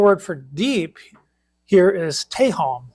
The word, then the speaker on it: tehom: Also, the Hebrew word for deep here is tehom. It's spelled T-E-H-O-M, and it has a meaning of